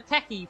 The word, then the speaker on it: Keke: Mido Mubarak saying Keki, it is pronounced Keki in Finnish.